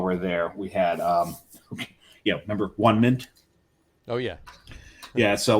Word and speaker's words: Onement: it's actually, but I had to ask the bartender, it's actually pronounced One Mint. It's One Mint.